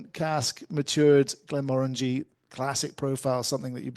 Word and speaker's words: Glenmorangie: Glenmorangie's, I mean, not just with the name Glenmorangie rhyming with orangey.